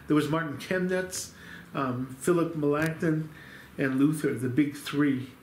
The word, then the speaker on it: Melanchthon: Melanchthon. There we go. And how did you learn it? Melanchthon. Okay. So, we were taught at the seminary just the anglicized version, Melanchthon, which is not auf Deutsch.